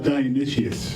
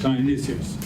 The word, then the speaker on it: Dionysius: We're not talking about Dionysus, we're talking about, how do you pronounce? Dionysius. Dionysius.